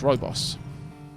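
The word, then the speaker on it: rooibos: tea the other day how is it pronounced Robos this is how it is pronounced so at least it is how I have always pronounced it foreign digging down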